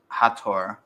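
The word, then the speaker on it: Hathor: said by the way the right pronunciation is hator hator hator or hat or if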